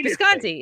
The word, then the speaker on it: Visconti: it's just funny and it's not hard it's visconti it's get you say wisconsin whatever anyway so this